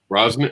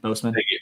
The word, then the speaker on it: Boseman: Yeah, a powerful moment because unfortunately Chad Broswick, Brosnan, I'm saying his last name wrong. Boseman.